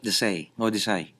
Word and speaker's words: Desai: There's Tina Desai. Is that how you say it? Desai. Mm-hmm. Yeah.